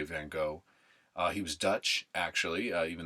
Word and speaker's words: van Gogh: Gogh by the way VA n GOG H we say van Gogh it's actually pronounced van Gogh is how you